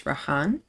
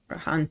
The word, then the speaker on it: Rahan: pronounce it correctly now so it's rahan okay the sound is kind of difficult for me so maybe I'll I'll just go with a h raan sits quietly by the